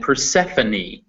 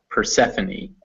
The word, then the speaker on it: Persephone: starve or discipline however some french or greek words in english will pronounce that e so recipe is a french word cafe also a french word and persephone that is the name of a greek god persephone the goddess of spring it is always pronounced